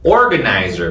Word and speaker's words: organizer: Organizer. Vamos jogar aqui, ó. Organizer. Às vezes pode parecer não natural você jogar esse word stress, essa sílaba tônica no começo.